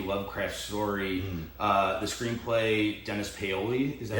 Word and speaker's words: Paoli: Lovecraft story, the screenplay, Dennis Paoli, is that how you say his name?